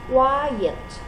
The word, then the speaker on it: quiet: listen to the pronunciation quiet so there are two syllables now listen to the